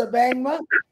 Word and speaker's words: Abangma: his last name is, if I say it wrong, you can laugh at me, Abangma? Is that how you say it? Wonderful, wonderful. You got it right.